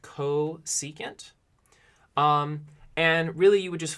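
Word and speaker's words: cosecant: is defined to be its CSC and it's pronounced ko secant and really you would just flip this fraction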